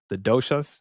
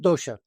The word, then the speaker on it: dosha: I think that's what they call the doshas. Is that how you pronounce it? Dosha, dosha.